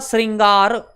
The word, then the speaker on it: श्रृंगार: अलग रहता है उच्चारण अलग रहता है इसका उच्चारण होगा श्रृंगार श्रृंगार ठीक है अब समझना इसको क्या पढ़ेंगे